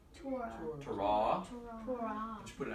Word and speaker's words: Torah: So in Hebrew, it typically accents the last syllable. Not always, but typically.